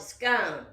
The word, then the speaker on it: scone: The second part of your question, does scone rhyme with bone or gone, as in scone? If you live in the United States, we call it a scone.